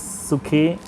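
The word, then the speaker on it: ψυχή: who loves his life, that word is psyche, or probably it is more correctly pronounced as sukhe in Greek, which means soul, breath, life.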